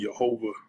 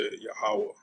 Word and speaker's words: Yahawah: here said jehovah but the true pronunciation the true name of the most high is yahwah all right that's how you say yahawah okay now i said